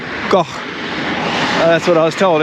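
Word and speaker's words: Kok: it's pronounced, the first K is pronounced with a bit of a G sound, so it's like goh.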